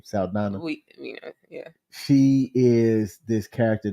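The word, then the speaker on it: Saldaña: Saldana.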